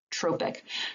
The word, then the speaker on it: trophic: this is called tropic i know it looks like tropic but it's a long o tropic so a trophic hormone